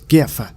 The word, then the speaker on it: GIF: all how to pronounce GIF. I actually call it GIF. I don't think that's how you say it, but I've always called it GIF. It's a hard G, not a GIF, damn it.